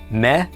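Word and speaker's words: מלך: Mim is m. Sele is e. Lammed is l. Sele is e. And this cough has no dagesh. So it is pronounced c. Altogether. This is pronounced mele.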